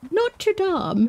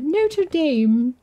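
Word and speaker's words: Notre-Dame: there for a second and say notam not to Dame which she wouldn't have said not to Dame she would say notam or something wouldn't she you know new pc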